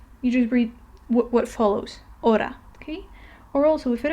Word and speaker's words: hora: H in Spanish, and it is never pronounced. It does not have, you just ignore it. If you see it in the word, you ignore it. You don't pronounce it.